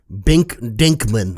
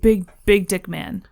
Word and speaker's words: Dink Binkman: My name is Bink. Sorry? Dink Binkman. I'll thank you to pronounce it correctly. Big Dick Man.